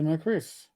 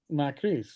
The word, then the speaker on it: Macris: I want to say I want to do like Macris because it looks like it's, but I think he pronounces it Macris.